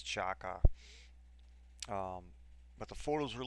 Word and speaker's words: Xhaka: Saturday of uh of Chaka I guess that's that's how it is pronounced a lot of people have been going around like Twitter Reddit trying to get the correct pronunciation of his last name and I guess it is Chaka um but the photos